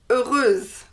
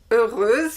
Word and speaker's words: heureuse: The feminine form is heureuse. Heureuse with S and E, and you pronounce the S because there is an E after.